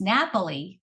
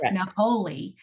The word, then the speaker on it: Napoli: wrong on the videos so it's Napoli not Napoli so um I apologize